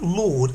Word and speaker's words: laud: hard work so notice to lord it sounds like lord lord but it's spelt differently as in the house of lords but the house of